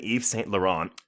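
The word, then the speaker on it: Yves Saint Laurent: Eve St la on are you surprised I know how to pronounce that did you go did you practice that yeah did you practice it I already knew I wasn't going to call it Evas Wes per but anyway so he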